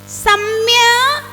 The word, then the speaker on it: सम्यक्: इस शब्द को सावधानता से बोलना, क्योंकि इसको लगभग लोग गलत बोलते हैं। सम्यक् गुपलभ्य, सम्यक् उपलभ्य, सम्यक् उपलभ्य, सम्यक् गुपलभ्य, सम्यक् गुपलभ्य, सम्यक् उपलभ्य, सम्यक् उपलभ्य।